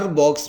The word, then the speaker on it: با: اچھا تلفظ کر سکے، اس کو ایک الف کے برابر لمبا کر کے پڑھاتے ہیں۔ ایک الف کے برابر ہم اس کو کیسے لمبا کریں گے؟